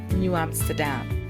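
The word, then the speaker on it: Nieuw Amsterdam: The first capital in Burbase was called New Amsterdam, but spelled N I E U, not new. It's pronounced the same way, but it was spelled different.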